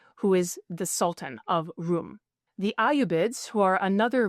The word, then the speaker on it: Rum: also the Sultanate of Rum. So the way that is spelt is R-U-M. Rum, if it sounds like Rome, that's because that's what they meant by it.